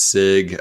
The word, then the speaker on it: Sieg: it go but uh sig is the actual pronunciation so and we were